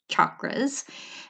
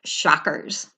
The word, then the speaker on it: chakras: me how to say chakras and it is that hard cha instead of sha and so if I